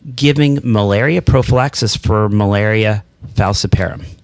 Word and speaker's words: falciparum: I pronounced it falciparum until I met Dickson, but I used to say falciparum until he tried to correct me. And I still say falciparum. So I'm not sure not sure who wins on pronunciation, but with malaria, we're